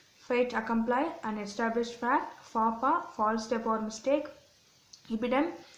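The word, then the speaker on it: faux pas: Fapa, false step or mistake. இது வந்து எட்ஸும் எஸ்ஸும் சைலண்ட்டாக இருக்குது, அதனால் நம்ம ஃபாப்பான்னு தான் ப்ரொனவுன்ஸ் பண்ணுவோம்.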